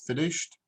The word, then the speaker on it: finished: The idea is if it finishes with an H or like that, washed or finished, then it's a T sound.